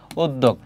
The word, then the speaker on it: উদ্যোগ: এইগুলোই করো শেষ মুহূর্তে এরপরে আছে উদ্যোগ কি হবে এখানে দেখো উদ এখানে থেমেছে এজন্য হচর বাকি হবে কি দগ উদ্যোগ এর পাশাপাশি আরো কয়েকটি